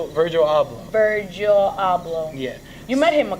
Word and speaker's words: Virgil Abloh: you saying about vert vert oh yeah so Virgil Argyl I woodbridge I'm sorry I want to say his name right okay yeah its original / job Virgil abloh yet you met him a couple times yeah